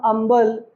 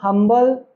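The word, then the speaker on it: humble: पहले लगता था एन लेकिन अब हम क्योंकि इसे अटल इसको हम अंबल इसको हम हिस्टोरिकल नहीं प्रोनाउंस करते हम इसे होटल इसको हम हंबल इसको हम हिस्टोरिकल हिस्टोरिकल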